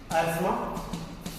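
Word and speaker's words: asthma: Number 1 एस्मा, इसको एस्थमा लिखोगे बच्चों, क्या कहेंगे? एस्मा। TH is silent over here, एस्थमा।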